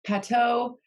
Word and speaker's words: Pato: i'm super excited about um his name is pateau i hope i'm pronouncing that right i forgot to check with